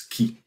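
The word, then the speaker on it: χ: symbole qui est ici se prononce qui. Donc, c'est un qui, si on dit fraction molaire, là, oui, on va dire c'est un X, là, mais habituellement, on va dire c'est qui, cette lettre-là.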